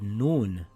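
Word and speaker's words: نون: Noon makes a similar sound in English to the letter N in the word nose or the word nest.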